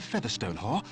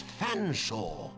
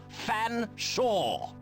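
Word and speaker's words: Featherstonehaugh: large drink then what foreign excuse me Mr Featherstone Hall I presume cannot pronounce my name properly it's fan saw but it it's a talking catcher it speaks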